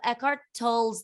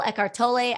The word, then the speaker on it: Eckhart Tolle: also love i love eckhart tolle's the power of now eckhart tolle ecartole i've heard both pronunciations the power of now